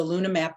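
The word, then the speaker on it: LunaH-Map: Meg Hufford: number eight of our top 10 is the Luna map mission, and please note in the in the logo, that the H is silent because it's the hydrogen that they're looking for.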